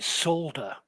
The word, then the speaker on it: solder: Solder. Solder. Solder. It's like sold. You sold something with an E R on the end.